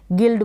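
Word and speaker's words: guild: ठीक है, जी को ग पढ़ा, आई को ई पढ़ा छोटी ई के रूप में, एल को ल आधे ल के रूप में और डी को ड, गिल्ड बन गया। नहीं तो पूरा ल प्रोनाउंस करेंगे तो गलत हो जाएगी स्पेलिंग।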